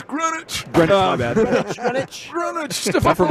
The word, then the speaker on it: Greenwich: Well, first of all, say it right. It's Greenwich.